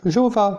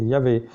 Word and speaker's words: Yahvé: Et donc pour eux, c'est pas Yahvé, mais eux ils disent, nous on le prononce comme les Juifs, Jéhovah. Mais non, c'est Yahvé.